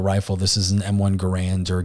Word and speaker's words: Garand: on this particular rifle this is an M1 Gand or Garand um I'm not really sure there's always debate with how to pronounce it I usually say Gand myself but